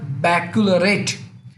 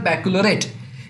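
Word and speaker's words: Baccalaureate: आईबी यानी international बैक्लरेट, हाँ, pronunciation थोड़ा ट्विस्ट है, इंटरनेशनल बैक्लरेट।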